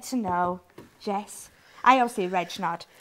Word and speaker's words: Regnart: know jess i obviously reg knot it's not red no it's not red